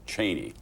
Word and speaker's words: Cheney: he said, "You know, I was out campaigning with Cheney all fall uh using the Wyoming pronunciation of it." I must say that caught me a little off guard because all the time that I've known him in Washington, it's always been Dick Cheney.